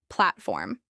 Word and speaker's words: platform: This is pronounced with stress on the first syllable, platform.